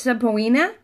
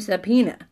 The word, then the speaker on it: subpoena: we combine the two I think if you go way way back it was pronounced sub polina but people just got lazy and the sub polina became a subpoena its subpoena it just turned into subpoena so we kind of skip past the O so it's sort of silent but it didn't they didn't mean for it to be okay so then the next day